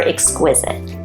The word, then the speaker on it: exquisite: that new word correctly how do we count out the syllables for exquisite exquisite three exquisite that means manners